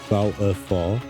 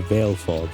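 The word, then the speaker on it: Valefor: Valipar, famously the first N in Final Fantasy X, is most commonly pronounced Val-F-4 or Veilfor. The name is often broken down into three symbols, Val-F4 or two as Veilfor.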